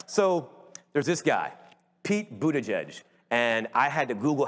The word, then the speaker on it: Buttigieg: All right, so there's this guy, Pete Buttigieg, and I had to Google how to pronounce his name because I just did not know. But when you go to his campaign headquarters, like Boot Edge Edge is written on the wall pretty big, so